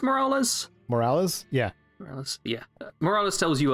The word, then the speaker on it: Morales: the concourse of cat mccarran is her name pronounced morales morales yeah yeah morales tells you her husband perished